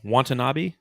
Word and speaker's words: Watanabe: How do you say his last name? Watanabe? Yeah.